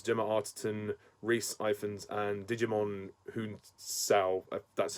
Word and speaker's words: Djimon Hounsou: And this movie stars Ralph Fiennes, Gemma Arterton, Rhys Ifans, and Djimon Hounsou.